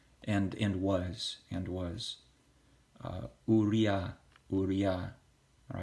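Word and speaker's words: אוּרִיָּה: in was and was Maria Maria all right we're not gonna say you Uriah Uriah that's an anglicized version of it you're gonna say Maria Maria all right let's go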